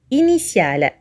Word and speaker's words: initial: À retenir, la consonne T peut être prononcée S lorsqu'elle est suivie de la voyelle I dans le groupe de lettres T, I et A, comme dans le mot initial.